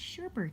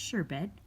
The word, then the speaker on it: sherbet: bunny um nope it's sherbert bunny wait a minute I'm sorry that was a very Midwest pronunciation its sherbet or sure be not sherbert another pink gummy bear